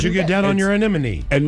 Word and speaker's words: anemone: No, it is not. It is anemone. Anyone? It is not anemy. Cuz that's that's easy to say. Why don't you get down on your anemone?